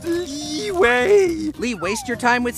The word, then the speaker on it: Liyue: It's pronounced Liyue!